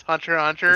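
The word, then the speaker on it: Hunter × Hunter: I mean, you're not actually supposed to pronounce it. Like Hunter X Hunter is Hunter Hunter.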